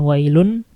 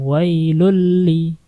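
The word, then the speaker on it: وَيْلٌ لِّلْمُطَفِّفِينَ: Wailul, bukan wailun, tapi lun masuk ke lam. Wailulli, seperti itu.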